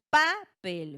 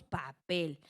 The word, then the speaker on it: papel: Así tenemos como ejemplo palabras como papel. Papel, ¿vale? Y otra vez les digo, nosotros no decimos papel, ¿verdad? Decimos papel, obviamente menos exagerado que como lo estoy haciendo yo ahorita.